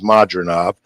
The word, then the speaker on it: Madrimov: And you're hearing pronunciations of his name today, all different ways, but it is Madrimov.